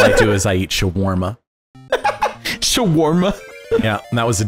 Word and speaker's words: shawarma: an ing it's a it's an anglicization of an Arabic word it's true but um